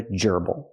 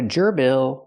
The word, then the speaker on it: gerbil: It's a gerbble. Not a gerbil, but a gerbble. The stress is on the first syllable.